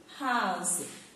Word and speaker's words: halves: So half, plural form is halves. L is silent. Halves.